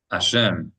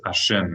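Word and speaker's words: השם: But if you don't pronounce the he, you're saying praise the guilty one.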